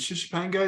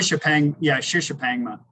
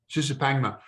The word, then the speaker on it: Shishapangma: It has to be, because your first one, it was Shishapanga. Is that the correct pronunciation? Shishapangma. Shishapangma.